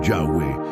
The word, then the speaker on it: Yahweh: Ese nombre es el Tetragramatón, las 4 letras hebreas YHWH, a menudo pronunciadas como Yahweh y traducidas como Señor en la mayoría de las Biblias en inglés.